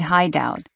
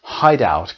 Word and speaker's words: Hideout: let's all meet at Hideout let's all meet at Hideout he meant h i d e o u t you know like a hiding place which was the name